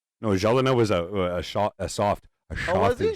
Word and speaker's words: Gelinas: It's a hard G. It's Ja. J. Yeah. It's like you're an Oilers fan. Like Martin Gelina. No, Gelinas was a soft was he?